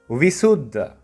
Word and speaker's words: Vissudha: Vissudha. Break it down, you can say it as Visuddha. Say it a little bit faster and it becomes Visuddha.